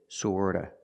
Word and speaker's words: sort of: Remember, the T in sort of is pronounced with a fast D. Sorta, sort of, sort of.